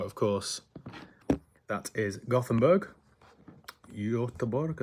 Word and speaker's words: Göteborg: Göteborg, I think they pronounce it.